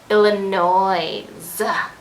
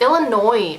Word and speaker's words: Illinois: about people who say illinois it's it's illinois people the s is silent duh is isn't it